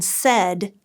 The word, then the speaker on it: said: word parts for example the AI in said says e short e not a long a incorporate cumulative review of